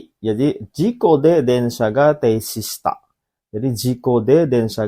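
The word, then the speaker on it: 停止: Teishi ini bacanya teishi. Apa artinya teishi? Teishi itu artinya berhenti, minasan. Hai, berhenti. Berhenti. Jadi, jiko de densha ga teishi shita.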